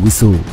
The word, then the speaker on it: WSO: WSO sering diucapkan sebagai WISO.